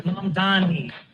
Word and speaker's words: Mamdani: The name is Mamdani. M-A-M-D-A-N. Learn how to say it.